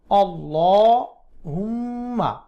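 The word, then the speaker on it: اللهم: লামের খাড়া জবরটি মুখ গোল করে মোটা করে উচ্চারণ করবেন আল্লাহুম্মা ইন্নি হামজা ন তাসদিদ ওয়াজিব গুন্না ইন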